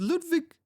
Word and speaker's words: Ludwig: I'm pretty sure Ludwig is it not a German name, Ludwig? Because you pronounce the W with a V, right?